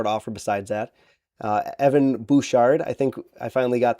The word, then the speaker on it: Evan Bouchard: It's Evan Bouchard, not Bouchard, like I was saying in the video.